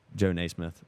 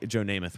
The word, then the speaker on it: Joe Namath: I mean, you could say also Joe Naismith. I'm pretty sure that's how I pronounce that right. It's just Joe sad how Joe Namath when he goes to the Jets and wins